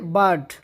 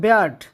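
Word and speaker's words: bird: Number 2, songs of experience, sung by এ বার্ড, উচ্চারণটা হবে ব্যার্ড, আর এর একটি উদাহরণ হলো দ্য সিগ্রোজ, যেটি আজকের টপিক।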